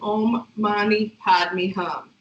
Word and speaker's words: Om Mani Padme Hum: So the Tibetan variation of it is always pronounced as Om Mani Bimbi Hum, even though it's spelled Om Mani Padme Hum.